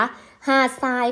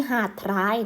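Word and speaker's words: หาดทราย: หาด ทราย ไหม คะ หาด ทราย ก็ จะ ออก เสียง อ่ะ ทราย นะ คะ ทร ได้ เป็น โสด สู้ นะ คะ อ้า ไม่ ใช่ หาด ท้าย นะ คะ นัก เรียน ไป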